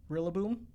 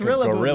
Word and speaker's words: Rillaboom: The one that I got butchered the most on was Rillaboom. I called it Rillaboom for the longest time because I just like Rillaboom. Rillaboom, yeah. I know, it's Rillaboom now.